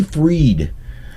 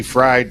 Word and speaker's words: Fried: This is Freed for weed. And listen, I think I've called her Nikki Fried forever because that's how it's spelled, Fried.